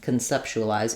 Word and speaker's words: conceptualize: to be longer and instead of having the letter O say a like in concept now it's going to be awah sound and it's going to sound like K I might even write it as just Ken con conceptualize it's so short it almost has no vow it's very reduced so conceptualize now my